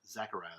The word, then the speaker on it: Zachariah: Zachariah, that's how you say it.